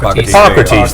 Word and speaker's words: Hippocrates: Hippocrates, or how do you say that? Is that correct? Hippocrates.